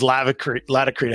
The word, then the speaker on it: Laticrete: I believe the right way to say it is Laticrete, because it's latex, Laticrete.